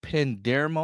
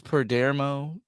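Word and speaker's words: Perdomo: This past weekend, the cast of Gen V and us as fans, we suffered quite a loss with Pedro Pendermo.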